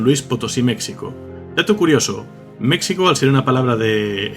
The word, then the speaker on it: México: conquista de la colonia El fonema sh había caído en desuso en el Castellano debido a esto la x pasó a ser J de ahí que ahora se pronuncia en México la palabra proviene de